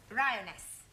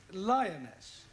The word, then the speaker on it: lioness: three give the feminine of the following lion roness lioness roness no l l r r you're not